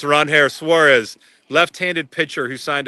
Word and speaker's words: Ranger: Sox, he's facing, you might know him as Ranger. Apparently, his name is pronounced Ronair Suarez, left-handed pitcher who signed a 5-year, $130